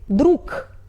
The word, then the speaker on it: друг: We write друг but we pronunciate .